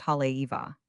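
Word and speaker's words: Haleiwa: Halgo means house beautiful and is pronounced Hale Eva.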